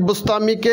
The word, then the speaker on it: বোস্তামী: তাইফুরের ছেলে হলেন বাইজিদ, আর বাইজিদ বুস্তামি অর্থাৎ বুস্তাম শহরের অধিবাসী। আসলে উচ্চারণটা হবে বস্তামি অর্থাৎ বস্তামবাসী।